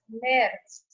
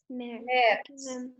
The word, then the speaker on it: März: March can be pronounced as März. März.